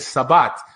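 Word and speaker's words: שבת: Also, Jews in Lithuanian Jews never said Shabbat, but they said Sabbat.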